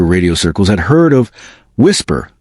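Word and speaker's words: WSPR: Whisper, pronounced whisper, short for weak signal propagation reporter.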